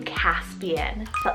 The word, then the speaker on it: Caspian: favorite boy names here next it's the name caspian c-a-s-p-i-a-n caspian now this was a c name but